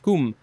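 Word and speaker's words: cwm: celtic origin akin to the welsh word c-w-m that is their word probably pronounced kum and that just means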